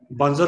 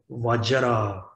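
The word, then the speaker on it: वज्र: Then 100 syllable, we Tibetan say Banjar Satu Samaya. Right? We Tibetan say Banjar Satu Samaya. Based on the Sanskrit tradition, we say Vajra, Bel and Vajra, Vajra, Sattva, Sattva, we say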